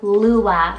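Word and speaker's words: Luah: Then for a little bit more of a girlier option, I have Lua, spelled L-U-A-H.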